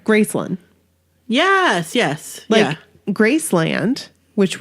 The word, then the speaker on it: Graceland: right kind of like Graceland yes yes yeah Graceland which we always have called it Graceland yeah you don't call it Grace Land like Disneyland they call it Graceland like one word Graceland like in Australia Melbourne